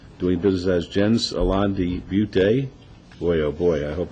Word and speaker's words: De Beauté: De Beauté. De Beauté.